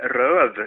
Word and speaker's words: Rööf: Hej, du, jag söker efter en Ludvig Röv, uttalas det, men det stavas L, Ö, Ö, okay. F, två Ö och ett F.